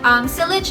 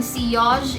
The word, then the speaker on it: Sillage: Okay, Sillage is like the American pronunciation, and Sillage is like French pronunciation, I guess.